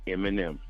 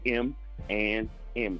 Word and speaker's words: ManM: know what I mean so it's M and M if you look at it again and look at the initials in the letters you'll see it you'll be like